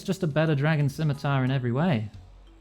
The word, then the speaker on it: scimitar: I mean, I know it's pronounced scimitar, but when you spell it like that, you've got to say ski, right? Cuz if you just say simmy, that just feels weird.